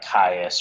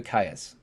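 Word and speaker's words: Caius: IU s okay so so it would be like the Roman chaos okay so uh so what Drew you to kaiis he's honest honestly one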